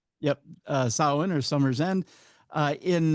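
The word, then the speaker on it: Samhain: It tells the origins story of Sam Hayne or Summer's End. Sin. What's that? It's pronounced Sin.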